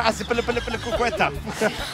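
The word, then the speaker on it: Azpilicueta: He didn't pronounce it correctly. It's Kepa Aspilicueta.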